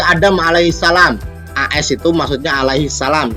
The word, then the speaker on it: alaihissalam: AS itu maksudnya alaihissalam. Jadi kalau ada tulisan Adam alaihi AS berarti bacanya bukan Adam AS lah, bacanya Adam alaihissalam.